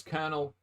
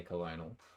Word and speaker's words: colonel: hold on I suppose Colonel it's like a weird way to say it compared to how it's spelled you know what I mean like and twitch names you pretty much have to like sometimes you gotta guess so you do just kind of sound it out and if you were to sound out the way that Colonel is spelled it would say Colonial so I don't know